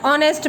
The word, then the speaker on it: honest: We are not pronouncing it as honest. We are pronouncing it as honest man. Honest. O. Here we are using O. So it will come N before honest man. Instead of H-O-N-E-S-T, H word is here silent.